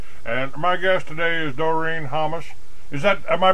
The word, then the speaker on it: Doreen Hammas: And my guest today is DoreenHammas. Am I pronouncing that right, Doreen?